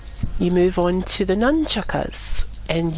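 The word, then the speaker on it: nunchaku: You move on to the nunchuckas, and yes, it is pronounced nunchuckas, or nunchaka. Not it nunchucks, is.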